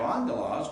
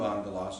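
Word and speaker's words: ἄγγελος: And here you have angelos, which is third syllable in, because you have a short ultima, os. You with me? The alpha at the beginning of angelos gets gets the accent because the ultima is short.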